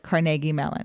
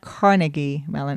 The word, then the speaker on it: Carnegie Mellon: we always talk about pittsburghers call it Carnegie Mellon it's not Carnegie melon it's yeah I remember the first time he ever started talking about Carnegie Mellon and you kept saying